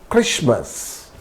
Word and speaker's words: Christmas: Moreover, there are a number of random words with silent T and we need to learn them. These words do not follow any rule. So, we have to remember these words. For example, asthma, it's not asthma, asthma, Christmas, Christmas, mortgage, mortgage, it's not mortgage, mortgage, soften, etc.